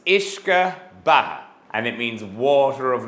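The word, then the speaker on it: uisce: they want to be really really Brave I mispronounce these words up here it's ishka and it means water of life and it's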